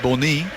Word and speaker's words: Bony: Phil Jones did have a bit of a debate about how to say Wilfred bony um all of his teammates and his manager have been calling him Wilfried bony on uh particular pronunciation site which suggests is Wilfried bourney but I thought I'd sound a little bit silly saying it like that it's the Sebastian quarz